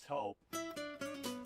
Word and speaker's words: Toop: No, I'm pretty sure it's Toop Insurance. Maybe Toupee. Could be Toupee. Yeah, I don't know. Or Taupe Insurance, maybe? Nah, I don't think so. Say it right. That's T-O-O-P. That's Taupe. Oh, it's Taupe.